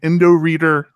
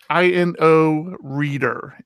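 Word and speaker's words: Inoreader: exactly what I need so I'm now an endo reader fan I've already moved all my dig stuff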